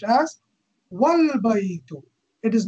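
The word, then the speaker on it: وَالْبَيْتُ: If it is preceded by a word, it is dropped in pronunciation, though it remains in writing.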